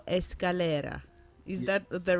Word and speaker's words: Escalera: tonight we have a guest, Bolivian pianist Sergio Escalera. Is that the right pronunciation? Yeah, that's Can I do that? Actually. Sergio. Sergio, is that right? Perfect. Escalera.